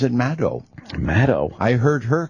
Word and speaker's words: Maddow: Everybody calls her Rachel Maddow.